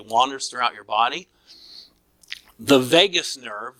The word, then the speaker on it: vagus: The vagus nerve, V-A-G-U-S, so not like Las Vegas, but V-A-G-U-S, but pronounced the same way.